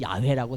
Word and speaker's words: 야훼: 그죠 여호와께서 여호와께서 여호와께서 근데 이스라엘 백성들이요 여호와로 쏴 놨지만 여호와로 입질 않아요 여러분 야훼라고 정확한 발음이라고 하죠 하나님 이름 그런데 야외 읽지 않고 뭐를 했냐면 아도나이라고 읽어요 우리 성경이 여호와 여호와 그랬지만 읽을 때 그들은 주께서 주께서 아두나이는 주라고 하는 뜻이에요 주님이라고 하는 겁니다 하나님과